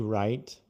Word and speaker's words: write: You need to write right. You need to write right. Hum. Write de escrever W-R-I-T-E. Write de certo R-I-G-H-T. But the pronunciation is the same.